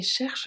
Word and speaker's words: cherche: Et cherche des crabes. Et cherche des crabes. Cherche, final E, crabe, final E and S.